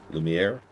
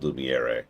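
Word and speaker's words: Lumière: Lumiere. See, if I was mean, I'd pronounce all the words in this game as they would sound in English. So, you know, old Lumiier for example or um Sel would be another one.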